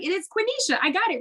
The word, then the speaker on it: Quenisha: say my name she was like it is quinisha i got it right chris told me to call you two and i was like no her name's quinisha and i'm gonna say and i'm gonna get